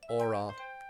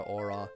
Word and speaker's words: Aura: Again, if we're going with the German pronunciation, which all the characters have German names, so Aura's name would also be the German pronunciation of that word, which would be Aura.